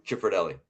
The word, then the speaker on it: Cifrodelli: Ah, So I say Cifrodelli. Cifrodelli.